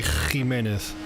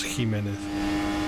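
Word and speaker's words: Jiménez: I pronounce it the soft Spanish way. Like in some places in Spain, they would say Jimenez. Like the beginning would be much stronger, but as I have a lot of Latin American friends and I don't like those strong consonants, I also pronounce Jimenez.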